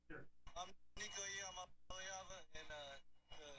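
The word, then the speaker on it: Iamaleava: I'm Nico Yamaleava. Yamaleava. Way to pronounce my last name is Yama.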